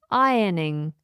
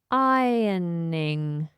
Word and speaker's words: ironing: Next on the list is another noun, and it is ironing. Ironing. Ironing. Notice I don't pronounce the R.